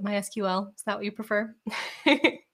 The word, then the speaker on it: MySQL: do it you know like my sequel that's how i pronounce it mysql is that what you